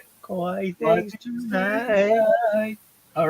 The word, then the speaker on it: Kawaii: Kawaii things tonight.